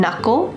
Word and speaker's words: knuckle: My thumb has one knuckle. Notice the K is silent.